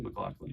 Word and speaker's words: McLaughlin: you were a two-time McLaughlin Award winner I was is that pronounced correctly McLaughlin nailed it hell yeah which is